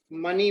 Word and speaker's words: मणि: और इस मंत्र में पानी नहीं बोलेंगे, मणि बोलेंगे।